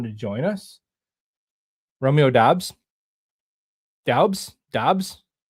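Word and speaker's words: Doubs: Dobs. Dos. It's looks like it's spelled Dabs, but I think it's Dobs.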